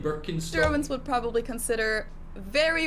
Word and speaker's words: Birkenstock: the world nowadays, and it's natural that people pronounce it with their native accent. So English speakers usually say Birkenstock. In German we say Birkenstock. Birkenstock, Birkenstock, which literally translates to birch stick.